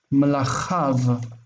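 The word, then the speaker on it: מַלְכָיו: We take that plural and we add the vav and we get malachav.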